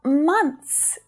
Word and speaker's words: months: But when you're trying to pronounce this word in a sentence with other words around it, you're much better off skipping the TH sound and just saying months, because people will still understand what you're saying and it's grammatically correct.